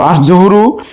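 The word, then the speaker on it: الظهر: আর জুহরু এর আলিফ লামের লাম উচ্চারণ হচ্ছে না, তাই আমরা এটিকে বলতে পারি আল হুরুফুস শামসিয়া।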